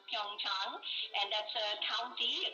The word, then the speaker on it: Pyeongchang: It is pronounced Pyeongchang, and that's a county, a kind of rural area in Korea, about 130 kilometers from Seoul.